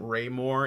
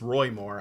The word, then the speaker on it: Roy Moore: i like mispronounced uh his name isn't raymore it's roy moore i have that written